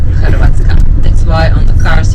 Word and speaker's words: Hrvatska: And Zagreb is the capital city of the Republic of Croatia, but we pronounce Hrvatska. In our language we said Hrvatska.